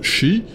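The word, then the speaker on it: 四: En japonais, 4 se prononce shi, ce qui est homophone du mot mort.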